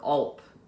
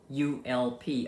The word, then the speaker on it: ULP: problem he calls it your ulp rhymes with gulp ulp upper limit problem i